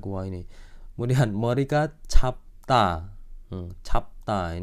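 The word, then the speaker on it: 짧다: 찹다 ini cara baca airan ini huruf rangkap ini. Itu ada di video awal banget belajar huruf itu. Cap menang biepnya, 찹다.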